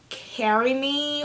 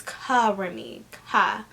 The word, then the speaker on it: KaRemmi: you know k-a-r-e-m-m-i um some people they pronounce it as um carry me or curry me but it's covering me cover me um cut